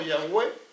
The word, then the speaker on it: Yahweh: Ese nombre no tiene vocales. Aquí está YHWH. Unos dijeron sencillamente, pusieron una aquí y sería lo más cercano, Yahweh, lo más cercano.